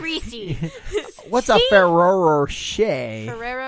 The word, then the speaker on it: Rocher: You know, it's like a mix between a Ferrero Rocher and a Reese's. Kind of like and stuck together. And a Reese's. I said Reese's. What's a Ferrero Rocher?